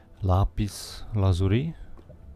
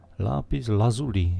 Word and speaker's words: lapis lazuli: Lápis lazuri. Myslím si, že se to tak vyslovuje a říká. Lápis lazuli. Jo, ne lazuri, ale lazuli.